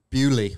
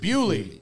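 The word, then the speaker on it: Beaulieu: But we went to a car museum yesterday called, how do you pronounce it? Bewley. Bewley.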